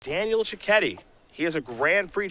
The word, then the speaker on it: Cecchetti: Miller alongside our champion Daniel chetti got it right yes I've been saying it wrong all day but I want to